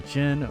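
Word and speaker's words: Djinn: I don't pronounce the D. See, when you unleashed me, I attacked with my mighty stone cleaver. After being unleashed, the Jin will then stand by to be summoned.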